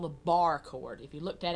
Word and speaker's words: barre: around we can make a position called the Barre chord if you looked at it on paper it's spelled be a are re pronounced bar and